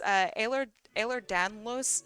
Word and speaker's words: Ehlers-Danlos: So I also have I always like say it wrong, but it's Ehlers-Danlos syndrome.